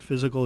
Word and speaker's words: FYZICAL: calm you can spell physical the way we spell it or the way everyone else spells it physical is FY z IC al Cape May physical